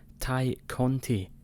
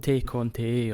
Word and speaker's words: Tay Conti: It's not Tay Conti or Tay Conti or whatever you want to say. It's Ty Conti.